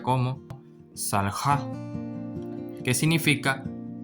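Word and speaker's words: סָלְחָה: Entonces, aquí se pronuncia como salja, que significa perdonó, pero refiriéndose a la tercera persona femenino, es decir, ella perdonó.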